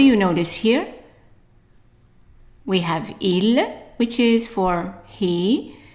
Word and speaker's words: il: talk about pronunciation first I is pronounced e e so the whole thing here would be right ill okay and then the